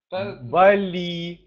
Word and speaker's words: Бали: так так смотрю а правильно говорить Бали с ударением на первый слог Бали тут неважно То есть